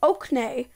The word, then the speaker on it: Oaknay: By the way, the kingdom is called Oaknay. Oak as in oak tree, and the nay in E.